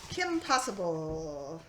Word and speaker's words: Kim Possible: But Kim Possible rhymes with impossible, and this looks like it's sort of for younger teens, older kids, sort of maybe adventure movie.